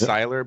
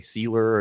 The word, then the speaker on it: Sylar: whole life people say my last name wrong it's Sylar but people say sealer and seller and silo and sailor it's really annoying but